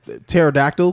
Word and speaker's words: pterodactyl: I can understand if my shit was spelled like pterodactyl, because have you seen the P in that bitch? Yeah, nobody. What P? Exactly. What P? There's a P.